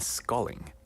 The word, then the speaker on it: sculling: Sweep rowing and sculling. Sculling. Yeah. Like But 그게 뭘? 이게 이 스컬링이 아니에요. 이 스컬은 K로 하잖아요. Yeah. 근데 이거는 SCULLING. 발음은 똑같고. 발음은 비슷해요.